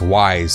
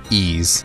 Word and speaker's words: Ys: games but it was its wise series pronounced ease series that brought the greatest